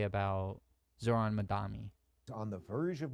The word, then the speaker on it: Zohran: Zorhan Mdani who basically it's Zoron. Zoron, not Zorhan. That's another thing Republicans will do, too, is they'll say it wrong.